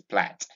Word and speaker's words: plait: But the pronunciation of this word is plat.